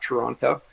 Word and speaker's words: Toronto: And that, by the way, that is the right way to say it. It's not Toronto.